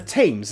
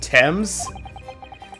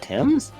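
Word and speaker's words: Thames: they fall into the tames and drown I'm heard this pronounced Tims perhaps they are suddenly overcome by raging fever H this pronounced Tims I've heard it pronounced that way jeez a perhaps attack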